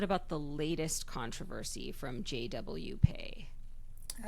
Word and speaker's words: JW PEI: large social media presence and she pronounces it JW Pay. So okay we're going to take Aria's lead and just go with that.